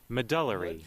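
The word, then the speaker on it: medullary: Medelery. Medelery. Medelery. Got it. Medelery thyroid cancer and mento. I know how to pronounce that.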